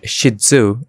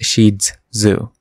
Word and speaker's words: Shih Tzu: loon in mandaran and is pronounced as sheet plus Zoo so shetu so despite many people calling it shidu and even t-shirts and